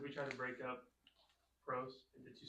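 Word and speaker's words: πρός: is it just Pros so this is is one syllable this is one syllable it's Pro so the emphasis is not on the accent of the O so only vowels can have accents so there's only one vowel and there's one syllable so there's only one place for the accent okay am I does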